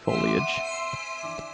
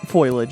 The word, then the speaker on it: foliage: there is they're just foliage foilage as J likes to say JB calls it foilage yeah oh boy he